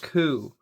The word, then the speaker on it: KUH: This time we got one from Kizer called the KUH. Alright guys, so right here we have the Kizer KUH, pronounced C-O-O in English, but spelled K-U-H.